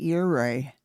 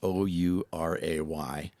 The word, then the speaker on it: Ouray: And by the way, if you ever forget how to pronounce Ouray, just say hip hip hooray.